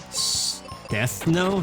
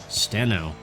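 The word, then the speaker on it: Stheno: Stethno? No, that wasn't even how you say it. Steno.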